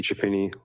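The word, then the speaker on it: Chiappini: My name is Chapini. Last name is spelled C H I A.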